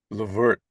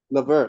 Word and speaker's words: Levert: that we know your give me the proper pronunciation of your name Levert Levert you said it you said it correctly W bonus points so